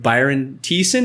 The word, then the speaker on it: Byron Thiessen: bathroom once again and I am joined with Byron Thiessen did I say it right perfect perfect how